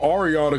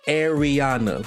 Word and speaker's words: Ariana: And I said, "Arana, cuz like you you can pronounce that two different ways." And she was like, "No, it's Ariana."